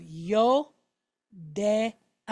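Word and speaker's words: יודע: Then we have ayin. Now this is a silent letter, but it's got a patach underneath it. So since it's a silent letter, and it has a vowel point, what are we going to pronounce? Just the vowel point. Okay? Just the vowel point. So we have a. So we have yo, de, a. All right? Yodea.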